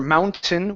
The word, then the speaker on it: mountain: but inad yeah good same thing with mountain instead of saying Mountain okay or Mountain we can say mountain mountain mountain uh jump over that t mountain mountain mountain okay